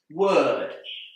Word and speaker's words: word: Word. Here, the O together with the R is pronounced and that's confusing because that sound is often spelled with an ER.